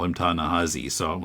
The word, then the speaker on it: Ta-Nehisi: I don't know why, but it's pronounced Ta-Nehisi, even though there's an I there. Okay. Because he guests occasionally on a podcast I listen to, and they always call him Ta-Nehisi.